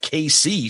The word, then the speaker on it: Casey: Casey, it's pronounced KC, says, I will say this was interesting.